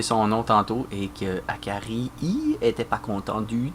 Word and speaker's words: Akari: autres ho gartrog et et non pas à Carli comme j'ai rpper son nom tantôt et que Akari i était pas content du tout et je